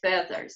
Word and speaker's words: feathers: И, конечно же, традиционно здесь появляется слово «feathers», которое читается не по правилам, а со звуком «э». Ну, я имею в виду, что нет здесь правила долгого «и».